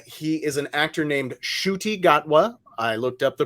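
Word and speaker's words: Ncuti Gatwa: will be uh he is an actor named Shruti gatwa I looked up the pronunciation that's how you pronounce it uh he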